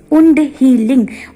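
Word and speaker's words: wound: और टर्मरिक यानी कि वुंड हीलिंग्स को इसको कुछ लोग वाउंड हीलिंग्स भी बोलते हैं, but this is नॉट वाउंड healing, it इज रॉन्ग pronunciation. Okay, the correct pronunciation is वुंड healing मतलब घाव को भरने के लिए।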